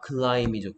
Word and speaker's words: climb: 오케이, 그러면 아이는 I, P는 소리가 안 나니까 climb이죠.